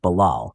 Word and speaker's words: balal: In Hebrew, Babel sounds like the word Balal, which means to confuse.